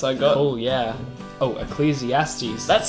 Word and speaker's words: Ecclesiastes: Oh, Ecclesiastes. That's how you pronounce it.